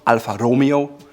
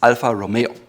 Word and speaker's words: Alfa Romeo: First of all, Alfa Romeo. It's Alfa Romeo. Again, it's an Italian name, so use the R in the front, and it's not Alfa Romeo, it's Alfa Romeo.